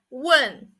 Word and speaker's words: 问: next word we are going to learn is one one it means the ask so it's a